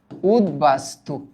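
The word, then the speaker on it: উদ্বাস্তু: এটার উচ্চারণ উদবাস্তু না কারণ এটা উপসর্গ যোগে গঠিত শব্দ উতযোগ বাস্তু ঠিক আছে এটার এটার উচ্চারণ উদ বাস উদবাস্তু এরকম হবে উদবাসতু এরকম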